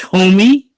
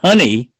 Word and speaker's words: Homey: incidental question is is is h-o-m-e-y wouldn't that be pronounced homie and that seems to me a more appropriate name than honey oh i apologize if